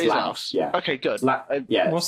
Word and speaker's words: Laos: Do you pronounce the Laos? S? It's Laos.